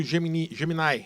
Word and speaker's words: Gemini: no chat EPT e o Geminai, né? O pessoal chama de Gemini, Geminai, né?